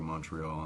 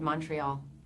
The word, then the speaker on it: Montreal: that we were able to finally go to Montreal and start filming, we'd had 4 weeks before